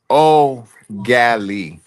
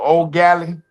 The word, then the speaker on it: ugali: The word Ugali is pronounced O Gali. The the first syllable of EAU is pronounced like the word O. Say O. Yeah, oh, Okay. So O Gali, R Gali.